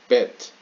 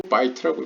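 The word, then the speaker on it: בית: Do not read bet. bet라고 읽지 말고 bite라고 읽어라.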